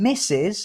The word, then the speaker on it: Mrs: ring a wedding ring so the pronunciation misses and this is a